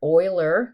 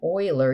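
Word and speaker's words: Euler: So remember, Oiler, it's how you say his name, Oiler.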